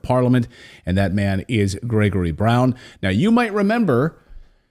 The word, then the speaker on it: Grzegorz: Now, I should point out, I'm using the Western pronunciation of your first name. So to my Polish viewers, I apologize, but I tried for like 10 minutes. For your Polish viewers, my name is Grzegorz Braun.